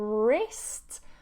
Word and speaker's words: wrist: This is your wrist. We don't say wrist. We remove it and we just say wrist, wrist.